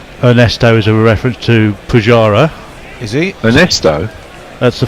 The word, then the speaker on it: Pujara: Che Guevara rhymes with Pujara.